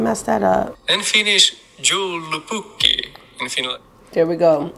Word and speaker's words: joulupukki: have to go ahead and look up this pronunciation. Hold on, because I'm not even gonna mess that up. In Finnish, joulupukki.